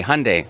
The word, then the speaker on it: Hyundai: It rhymes with Monday, Hyundai.